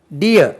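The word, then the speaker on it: deer: டியர் Mann, டிஇஇஆர் டீர் உச்சரிக்கக்கூடாது, டியர் டிஇஇஆர் டியர்.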